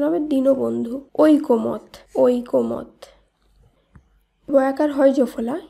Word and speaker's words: দীনবন্ধু: দয় দীর্ঘি দন্তন্য বদন্ত নয় ধৈর্য দীনবন্ধু না, এটি ভুল উচ্চারণ, এর শুদ্ধ উচ্চারণ হবে দীনবন্ধু।